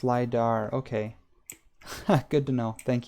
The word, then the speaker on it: LiDAR: Oh, it's pronounced LiDAR. Okay. Good to know. Thank you. Like radar, but with light.